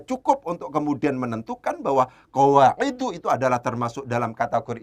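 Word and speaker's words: قواعدُ: Bacanya itu memang tidak boleh qawaidun, tidak boleh, harus qawaidu.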